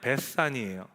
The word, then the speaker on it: 베다니: 베다니가 정확히 발음하면 베산이에요. 베스가 집이라는 단어고요, 아니라는 단어가 가난하다라는 뜻을 갖고 있습니다. 그래서 베산이 하면 가난한 자들의 집이라는 뜻이에요.